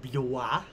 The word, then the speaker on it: Blois: There's the House of Blois. B-L-O-I-S is a really hard one to pronounce. Blois. If it was Blois, not a problem. Blois, not so problem. B-L is Blois. It's because it's like pronounced B-L-W-A-H.